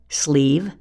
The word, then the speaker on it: sleeve: Instead, that silent E is there because no English word ends in V. It's always followed by a silent E.